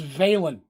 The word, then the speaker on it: Valen: at least implicate valon he's saying valine and valen we're gonna make a decision his name is valen i wrote it down we're going with valen i'm horrible about mispronouncing